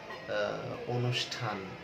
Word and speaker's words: অনুষ্ঠান: আবার তুমি যদি বলো অনুষ্ঠান, অনুষ্ঠানে কিন্তু মূর্ধন্য ষ ঠ যুক্ত, কিন্তু ওই মূর্ধন্য শটা তালব্য শ এর মতো উচ্চারণ করছে।